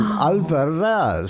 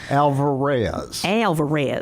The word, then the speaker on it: Alvarez: People think, well, am I supposed to roll that R and in Alvarez? So that's really how it's pronounced.